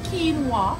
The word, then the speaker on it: quinoa: Again, we are seeing quinoa, it's pronounced quinoa, and this is it here.